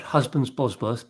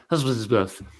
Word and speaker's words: Husbands Bosworth: Championships held at, well, it's spelt Husbands Bosworth, but I understand people say Husbandsworth.